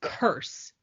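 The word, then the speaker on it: Kurse: to look it up it's curse but spelled with a k amazing um I really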